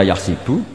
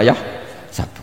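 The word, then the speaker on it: يحسب: Karena dalam qiraat sab'ah ada yang baca yahsibu, qiraat kita baca yahsabu. Tapi guru-guru kita kalau ngajar fikih itu bacanya yahsibu. Tapi kalau baca Quran yahsabu. Ya kan Quran kita kan ayahsabu Allah yaqdiru alaihi ahad, bukan dibaca ayahsibu.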